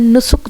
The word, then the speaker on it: Nusuk: गया है, आप एप्लीकेशन नुस्ख जो है वो डाउनलोड कर लें। कुछ लोग इसको नस्ख कहते हैं, नुस्ख कहते हैं, अब इसकी राइट प्रोनाउंसिएशन जो भी है NUSUK।